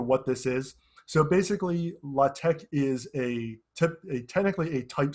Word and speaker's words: LaTeX: uh well it's spelled latex uh the best pronunciation i've seen is la tec uh for what this is so basically la tech is a technically a type setting language which